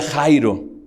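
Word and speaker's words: χαῖρε: de que fueron a eso no pero se pronuncia jairo y esa palabra fíjate en lo que dice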